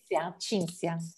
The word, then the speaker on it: Cinzia: How do you pronounce it in Italian? Cinzia.